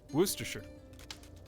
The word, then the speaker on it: Worcestershire: Correct pronunciation. That is the correct pronunciation. Worcestershire.